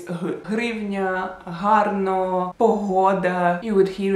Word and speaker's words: hryvnia: H, like in hryvnia, which is a Ukrainian currency, and for a lot of people it's really hard to pronounce it. They would probably just say grivnia. Like in Russian you say grivna.